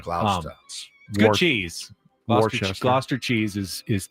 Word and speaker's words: Gloucester: It's a lot of letters for a less pronunciation. Gloucester.